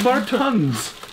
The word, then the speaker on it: Martens: you say martin's oh my god it is martin's oh you've worn me out you wore me